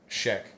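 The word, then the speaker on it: Sheikh: You say it right, I say it wrong. I say she Yeah, it's Sheekch is what they they how they pronounce it.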